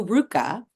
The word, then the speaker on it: RVCA: Thank you, FotoFocus, and thank you, RVCA. Don't be fooled that it is spelled RVCA if you are not in the skate world. That could throw you for a loop. But thank you also, RVCA, for your support of